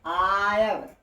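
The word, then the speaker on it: I've: ठीक है, इसे आयव, इसे क्या पढ़ते हैं, आयव। इसे आयव पढ़ा जाता है। ठीक है, आई कॉमा वी, आई हैव होता है, इसे जो कंट्रैक्शन मतलब संक्षिप्त में जो प्रोनाउंसिएट करते हैं, आई कॉमा वी को आयव कहते हैं।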